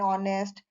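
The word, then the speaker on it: honest: एन एम एल ए, या कोई silent H वाला आवाज है तब हम यूज करते हैं, जैसे एन आवर, एन ऑनेस्ट।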